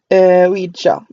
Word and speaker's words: Ouija: Yeah, I guess it is Ouija. It's supposed to be pronounced as because it's supposed to be a combination of we and ya.